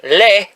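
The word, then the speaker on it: lait: was a baby Lala I don't know why it's pronounced lay in French but I used to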